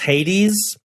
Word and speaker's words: Hades: It's pronounced Hades, and I know.